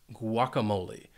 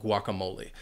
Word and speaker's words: guacamole: I love guacamole. And it has 4 syllables, and the stress is on that third syllable.